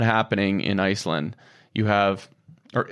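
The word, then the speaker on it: Ísland: That's not happening in Iceland. You have, or Island, sorry, as you properly pronounce it.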